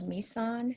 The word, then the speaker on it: Mison: It is pronounced Mison, just like Nissan with an M.